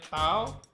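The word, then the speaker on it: τ: Yang pertama, jika tegak lurus, untuk mencari torsi itu adalah tau, kita bacanya tau, sama dengan F dikalikan dengan D.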